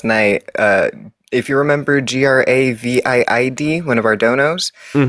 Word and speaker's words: Gravid: Uh if you remember G R A V I D, one of our donos, he's name is pronounced uh Gravid, like Gravity. Gravid.